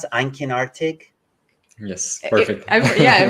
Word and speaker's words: einkinartig: Well, thank you guys again for coming on, and I encourage anybody watching to subscribe to, how do you pronounce it, Einkenartig?